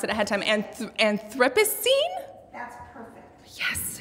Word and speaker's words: Anthropocene: oh god again i looked up how to pronounce it ahead of time and anthropocene that's perfect yes anthropocene um we are so excited to collaborate with